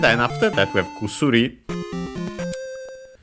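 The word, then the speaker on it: 薬: And then after that we have kusuri. Actually, the first u is barely heard if at all, so kusuri, usually.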